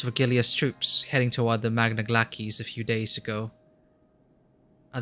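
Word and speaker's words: Magna Glacies: did you reach the magna glackies i really were pronouncing that i think the pronounce is glackies right did you cross the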